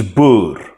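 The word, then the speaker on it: Boer: all of my videos Africans has this super nice uh rolling R um it's Bo okay but like so we we don't expect people internationally to be able to say Bo so we just well we will accept bu like silent British or however the Americans say it but like it's a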